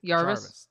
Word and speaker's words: Jarvis: uh what I I can't remember how to pronounce his name s ji oh uh Jarvis Yarvis jvis yeah Jarvis thank you so much um he uh you